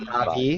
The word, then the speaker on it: Navi: It's pronounced Navi.